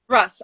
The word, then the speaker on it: Russ: i've got um how do you say your surname is that russ russe russ right yes um who i don't